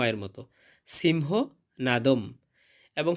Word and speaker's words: সিংহনাদং: সিংহ নাদম। এবং শব্দের শেষে অনুস্বর থাকলে তার উচ্চারণটা অর্ধেক ম এর মত হয়।